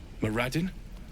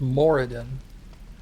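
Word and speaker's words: Moradin: Madden. He probably wouldn't listen to me. You mispronounced it. It's pronounced Moridan.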